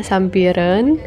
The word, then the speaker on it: Sampireun: ke Kampung Sampireun mereka tulisannya sih Kampung Sampireun gitu deh ya tapi dibacanya katanya Sampireun dan ini lagi di